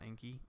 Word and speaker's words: Anki: It's spelled Anki. It's like called Anki.